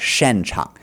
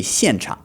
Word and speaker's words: 现场: hasn't really studied Chinese, he's not pronouncing the X words correctly. It was like 现场. Let's listen to that again. 演出现场见。演出现场见. So the X, the 现, it should be 现场.